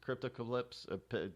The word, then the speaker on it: Cryptocalypse: Apocalypse, cryptocalypse, however you want to be correct. Cryptocalypse, that's how you pronounce it.